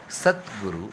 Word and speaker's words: Satguru: There is a difference between Sadhguru and Satguru, okay? Satguru and Sadhguru is different. Do you did you pay attention to the pronunciation? Okay, Sadguru is a soft consonant. Okay, Satguru is a hard consonant.